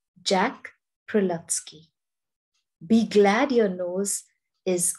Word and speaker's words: Prelutsky: was written by jack prelatsky that's how you pronounce his name jack prilovsky be glad your nose is on your face